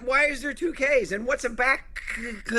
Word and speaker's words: Bakkt: I had to listen to a pronunciation because I myself was looking at it like Buck, but I'm glad we got it out of the way. It is back to the utter haha.